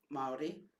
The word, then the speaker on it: Māori: And so he said, what does the word, so there's 3 syllables in the word Māori, ma, ao, and ori.